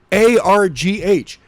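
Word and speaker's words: argh: in Natalie's voice because it's just A-R-G-H, which is pronounced arg.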